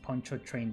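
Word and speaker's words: Pontchartrain: It's pronounced Poncho Train basically.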